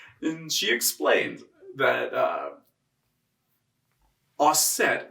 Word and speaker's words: Auset: she explained that uh osset is the french egyptian pronunciation of the egyptian goddess isis and she said you know